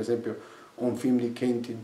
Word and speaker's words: Quentin: Ad esempio, ho un film di Kentin Tarantino, Quentin, credo che lo pronunci così, mia figlia mi corregge sempre, infatti ho sbagliato anche adesso.